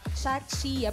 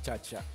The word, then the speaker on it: Chachia: Chachia. Bakit po pala Chachia ang pangalan ng team Ang ninyo? tamang pagbigkas niyan, chacha. Chacha. Chinese.